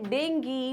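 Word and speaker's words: dengue: तो भाई दोनों बोलते हैं डेंगी डेंगू, तो आप दोनों में कंफर्टेबल है या नहीं है? मैं तो हूं, तो इसलिए मैं क्या पढ़ती हूँ उसको, इसका सही प्रोनाउंसिएशन डेंगी है, राइट।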